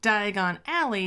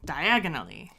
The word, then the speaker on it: Diagon Alley: movie just has him put the wrong emphasis on the wrong syllables so Diagon Alley just becomes diagonally which I am so